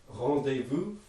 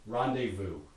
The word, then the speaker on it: rendezvous: nasal vowels in english so how are we going to pronounce that in english rendezvous right so we repair it to be a vowel plus nasal sequence um another one